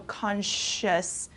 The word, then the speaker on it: Consciousness: something your Consciousness okay this s c i o u s sound is kind of turns into an sh so Consciousness okay great example Mustafa